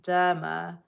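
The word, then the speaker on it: Dema: Derma, D-E-M-A, but it's pronounced Derma, I think.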